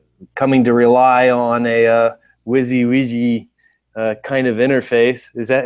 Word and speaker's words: WYSIWYG: 40 world of coming to rely on a whizzy whizzy kind of interface is that is that how you say it wysiwyg this week busy wig yep that's uh that's it have to be